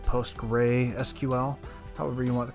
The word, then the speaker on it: PostgreSQL: also use PostgreSQL we that's how you say it post gray SQL however you want to